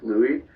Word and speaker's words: Louis: my dad's french canadian so uh the proper pronunciation is louis yes is silent but lou lewis man whatever whatever makes you happy makes me